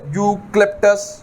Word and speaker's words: Eucalyptus: अब देखें इसके बाद जो दवाई है वो है यूक्लिप्टस ग्लोब्यूलस। यूक्लिप्टस में ई यू लिखा हुआ है, ई साइलेंट है।